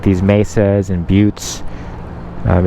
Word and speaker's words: butte: geologic rock formations um like these mesas and buttes um it's spelled butts but it's pronounced buttes also it's like a well-known spiritual destination where